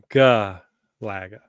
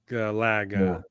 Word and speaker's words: Galaga: Gulaga.